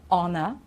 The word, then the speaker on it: honor: here are some examples when we don't pronounce the h because you know that we do usually okay well you know this one it's our okay it's not hawa it's our then we've got honor honest air otherwise it'll be hair